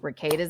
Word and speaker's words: Rekieta: I think Rekieta's a bad guy. And I hate that name. It's like Rekieta that rhymes with cicada.